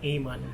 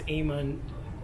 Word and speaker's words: Amon: attention to Maurice at a month someone told me it's a Mon you know but it's Eamon we there are different ways to pronounce I feel that the English pronunciation is Eamon so okay Martha I'm